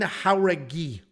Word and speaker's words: Jauregui: Yazmin Jauregui is how it's pronounced.